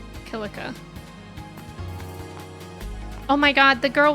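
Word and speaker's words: Kilika: I always want to say Kika, but I think they pronounce it Kilica.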